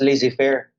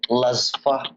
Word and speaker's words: laissez-faire: Sir, I don't think that it is pronounced as laissez-faire. Ingon siya, ang pag-pronounce ko no kay Lasfa.